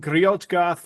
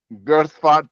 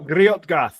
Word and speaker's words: Griot: you the not man I am griot the Magnificent girart the malaprop got it no no no griot get it f look look I